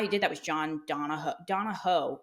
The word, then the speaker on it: Donahoe: did that was John Donahoe. It's Hoe. I thought it was Donahue when we recorded that episode. But anyway, it's Donahoe.